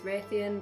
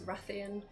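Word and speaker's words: Rathian: tiger and we've always called one of the wyverns Ratheon but she's ruffian yeah I know I think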